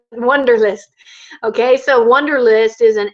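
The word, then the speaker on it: Wunderlist: w n d r it's like the German Wonder wonderlist okay so wonderlist is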